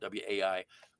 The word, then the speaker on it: wai: canyon that's wai but you pronounce it with the w because it's the beginning of the word and this step back